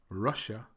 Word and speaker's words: Russia: the second syllable, whereas the first 3, Russia, Thailand, and China, have the stress on the first syllable.